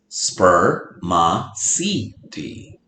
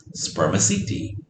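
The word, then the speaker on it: spermaceti: it is called spermicidi you say it like this spur ma si di spermaciti but scientists don't really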